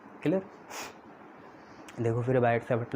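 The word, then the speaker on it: Biot–Savart: नाम तो कुछ अलग है, पर इंग्लिश में आप उसे बायट-सैवर्ट लॉ बोल सकते हो। उसमें कुछ चीज़ें साइलेंट होती हैं, बायट-सैवर्ट लॉ, ये जो वर्ड है इसमें कुछ चीज़ें साइलेंट होती हैं।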